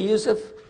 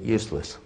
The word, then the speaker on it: Yusuf: going to be in english my name is yousef can you say yousef first time you got it right all these years my wife still pronounces it useless it could be a speech and peppermint i'm